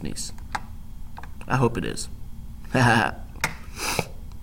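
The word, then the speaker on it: gneiss: get to it and I think the G is silent and it's pronounced nice I hope I'm not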